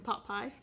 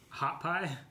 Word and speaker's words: Hot Pie: she got the recipe from potpie hot pie yeah you say it wrong hot pies pot pie literally did open up